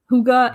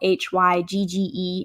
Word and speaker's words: hygge: haselek which is uh hygge it's like designing your home to be comfortable and warm and inviting it's like a decor style and that is spelled h-y-g-g-e and is a swedish word hygge so i think